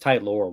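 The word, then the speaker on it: Tylor: tyler tyler mcgill yeah i believe it's pronounced tight lore but yeah because he spells it l-o-r yeah i like him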